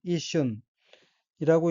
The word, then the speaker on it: 一瞬: 다음 어휘는 한자가 한국어로 일순이고 각기 한일 눈 깜짝일 순자이고 일본어로는 이슌이라고 읽으며 이슌은 한순간 그 순간이란 뜻입니다.